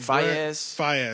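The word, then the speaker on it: Faiyaz: Yeah, and but Brent Faison, is that how you say it? Fayez.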